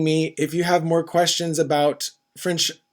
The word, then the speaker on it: question: Une question. Question. The T-I-O-N, tion. Question. QU is a K sound, again with less air blown out.